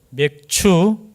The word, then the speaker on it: 맥추: 절이라고 하죠 맥추 예 발음 잘하셔야 됩니다 예 맥추 맥주가 아니고요 맥추 감사절 어이 감사절에 근원을 살펴보면